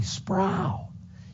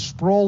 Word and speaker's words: Sproul: and i thought wow when somebody calls me sprow it's like somebody taking their fingernails on a chalkboard you know it goes up and down my spine and i say people call me sproul i growl my name is sprole that rhymes with soul so is that hard